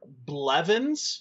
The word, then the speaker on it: Blevins: His name is Tyler Blevins. Yes. Is that how you say his name? Yes.